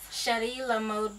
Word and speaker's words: Chéri La Mode: chrishana and she has the mobile Boutique Now pronounce the name for us sh La mod Boutique and where did that come from so